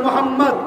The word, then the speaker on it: মোহাম্মদ: নাম নিলেই বলতে হবে আপনারা সবাই একবার বলুন মোহাম্মদ আপনারা উচ্চারণ করুন মোহাম্মদ খেয়াল করে দেখুন নবীর